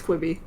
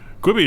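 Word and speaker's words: Quibi: thing oh yeah absolutely kibi queebi what do you think i thought i was always pronounced it chibi i thought it was a quibby at least based on the advertisements i've seen oh have you actually heard it spoken yeah i think it's quibby i think it's gone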